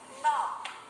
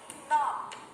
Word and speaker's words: knob: When K and N come together, then the sound of letter K is silent. Let's read some words. Knob. Knob. Here we can see that we only hear the sound of N and not the sound of letter K. That is why the word is knob.